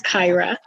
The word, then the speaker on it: Kyra: sorry to correct you the correct pronunciation of my name is kyra don't be sorry because